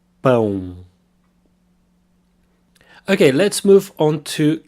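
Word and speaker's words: pão: bone here we have the nasal own sound bone bone okay let's move on to chorale you there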